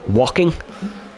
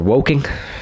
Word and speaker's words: Woking: McLaren of course now based in walking or woking depending how you want to pronounce it but I'd like to